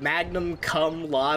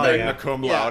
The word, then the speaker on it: magna cum laude: Is it Magnum Cum Laude or something? Magna Cum Laude.